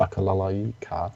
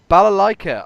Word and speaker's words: balalaika: I don't know what a bakalalaika is, or even how to say it, apparently. Balalaika.